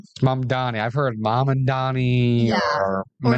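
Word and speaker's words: Mamdani: Mandami or like an N and M. Yeah. Yeah. So, Mom Donnie, that was a that was a tough one. The M and the N's are they're also hard to sometimes reading that they look similar, you know? It's it's tough sometimes. So, but of course, Mom Donnie, very important public figure. Always try to do that one correctly.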